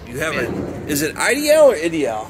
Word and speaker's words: Ideal: All right, is it IDL or IDL? How do you pronounce that? You know? I pronounce it Ideal. Ideal, okay. Well, it's a new old stock Ideal Model 92 from the early 1970s.